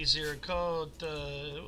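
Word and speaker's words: Ziricote: Let's go to the GPC 13, and I'm going to ask these guys if I'm pronouncing Zircoti correctly. That's correct. Zircoti. Zircota. What did you say? That sounds more Italian, Skip.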